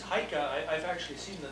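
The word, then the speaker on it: Eike: name it is yeah e-i-k-e in german it's haika i've actually seen the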